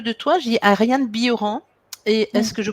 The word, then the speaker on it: Bilheran: Dis-moi, quand je parle de toi, je dis Ariane Bioran. Et est-ce que je prononce bien ton nom? Oui, le LH se dit Yeux en occitan. C'est un nom occitan.